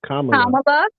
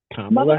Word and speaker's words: Kamala: Okay, you're still saying the name wrong. It's Kamala Harris. Kamala Harris.